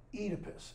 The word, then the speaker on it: Oedipus: Sophocles and Oedipus the or as I should pronounce it I was thinking about this later on in the afternoon Oedipus is the correct pronunciation all right so then